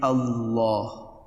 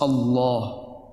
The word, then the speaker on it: Allah: In other words, the thick lam is pronounced Allah.